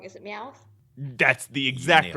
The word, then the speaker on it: Meowth: I know because I know I'm gonna say his name wrong. Is it Meowth?